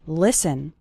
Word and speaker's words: listen: to an English podcast the letter T is silent in the word listen listen listen to an